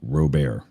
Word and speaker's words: Robert: name like Pierre Rober his last name spelled Robert it's pronounced robar you don't change that